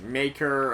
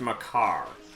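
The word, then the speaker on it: Makar: thought it was pronounced maker or Macar maccar something like that it's pronounced my car so as in Dude Where's My Car all right so all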